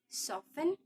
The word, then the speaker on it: soften: No T is heard in fasten, hasten, which make them rhyme with arson, mason. The same applies to listen, soften, nasty, hasty, faster, chaser,